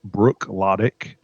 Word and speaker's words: Bruichladdich: It is Bruichladdich, that's the name of the distiller, and it is called the Classic Laddie.